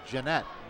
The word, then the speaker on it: Jeannotte: So they're calling Matt, his name is Jeanette. We've been, Ball that's out what it is, the 32? 40-yard line. Matt Jeanette. Well, that's certainly On the roster, it's spelled Jeannotte. Maybe that O is supposed to be an E.